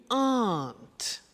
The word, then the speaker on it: aren't: they aren't cheap so the difficult here is the pronunciation of are not which is aren't ok art good so